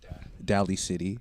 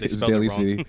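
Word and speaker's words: Daly City: A hip-hop artist from D City Daily C daily City yeah some people say it like d City it's really annoying no yeah um yeah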